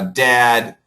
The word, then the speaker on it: dad: This is like uh dead uh dad. Uh people do get confused. This is a short e sound. Uh we call it the short e and this is the short a sound or short a and this is very